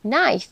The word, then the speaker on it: knife: akan mengupasnya dengan sederhana contoh paling umum dari silent Letters adalah penggunaan huruf k p dan W huruf-huruf ini ada tapi kita tidak mengucapkannya contohnya pada kata Knife yang berarti pisah restle